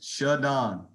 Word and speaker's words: ShaDon: Pronounce my name as ShaDon. All right, it's a capital D. It's not hyphenated. So you guys, it's ShaDon.